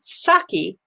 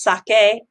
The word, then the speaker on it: sake: This is a pop-up bar in Shibuya, and they are focusing on what's called sake in United States, but it's pronounced sake.